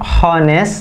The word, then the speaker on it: honest: It's not honest gitu. Walaupun ada H di awal katanya, tapi H-nya ini sebenarnya nggak dibaca. Tapi dibacanya honest.